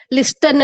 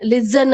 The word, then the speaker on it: listen: Okay, ಲಿಸ್ಟನ್ ಅಲ್ಲ, T silent ಇರ್ತದ. ಲಿಸನ್ ಅಂತೀವಿ. ಆಕ್ಚುಲಿ ಜ ಉಚ್ಚಾರ ಮಾಡ್ತೀವಿ, ಆದ್ರೆ ಲಿಸನ್ ಅಂತೂ ಅನ್ಬೋದು.